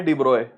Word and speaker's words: de Broglie: फिर आए डिब्रॉय, लुई डिब्रॉय, इनके नाम की प्रोनाउंसिएशन है डिब्रॉय।